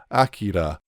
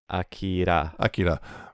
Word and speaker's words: Akira: it versus how you're actually supposed to pronounce it. Yeah. Because everyone says Akira, but it's Akira. Akira.